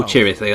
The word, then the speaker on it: Chirithi: Oh, Chirithi, that's how you pronounce it.